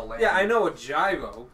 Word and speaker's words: gyro: Yeah, I know a gyro. It's also, in English, it's called a gyro, but in, it's... Yeah, it's technically pronounced hero, and it's full of lamb.